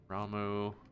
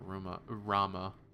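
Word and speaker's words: Ramuh: Typhon, Odin, Ifrit, yeah, Ifrit Rising, Iva, Ramu, apparently how that's pronounced. I always called it Rama.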